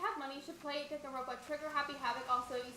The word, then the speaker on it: Danganronpa: Hey, Lexi, when you have money, you should play Danganronpa, Trigger, Happy Havoc.